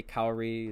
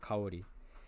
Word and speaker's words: Kaori: I say Kaori as an English speaker, but her real name, and I guess the correct pronunciation would be Kaori.